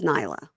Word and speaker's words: Nayla: But it's spelled Nayla, but she says Nyla.